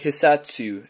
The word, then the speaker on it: Hissatsu: figur now I'll do this it's the crkt hasatu it's spelled h i SS a TSU it's a